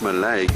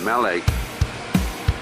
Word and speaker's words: Mallaig: So there we are in, apparently it's not pronounced Mallaig, it's pronounced Mallaig, and we're at Mallaig.